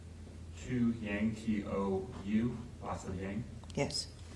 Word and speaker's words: Tou Yang: analyst by the name of, I believe it's pronounced Tou Yang, T-O-U, lots of Yang?